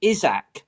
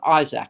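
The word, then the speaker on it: Isak: vladovic and this alex a lot of people are pronouncing it izak right it looks to us like um isaac he's supposed for he's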